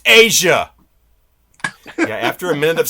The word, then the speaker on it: Aja: It's pronounced Asia. Yeah, after a minute of saying AJ, I actually say that, but you do you.